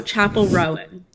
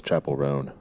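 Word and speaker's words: Chappell Roan: Chappelle Roan, is that how you pronounce it? God, no. Chapel. Is it Rowan? No, Chapel Rowan. Chapel Rowan. Oh, I was Or- wrong. yeah, I thought it was Chapel Roan.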